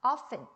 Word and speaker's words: often: often, 오케이? 자, t는 약간 묵음. 보통 발음을 할 때도 있고 안 할 때도 있어요.